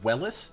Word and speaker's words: Wellis: Well? Is it Wellis? W-E-L-L-I-S? Yeah, Wellis. Hey, I spelled it right. Are you Mr. Wellis?